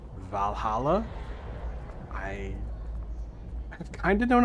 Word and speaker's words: VA-11 Hall-A: doing well we're playing I think this is pronounced Valhalla I have kind of known about this game